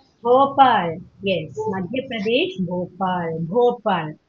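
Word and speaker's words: Bhopal: போபால் அழுத்தி சொல்லணும், போபால்.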